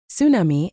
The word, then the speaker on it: tsunami: Most of us in the US just give up on the T entirely. We says tsunami and zar.